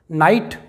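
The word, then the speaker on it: night: नाइट, इसका मतलब होता है रात। माइट, GH साइलेंट है, माइट मतलब शक्ति।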